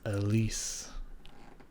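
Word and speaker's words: Elize: interview of amaranth and her name is pronounced elise i know now anyways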